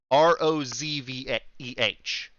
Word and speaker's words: Rozve: Rosve is spelled with a Z. Rozveh.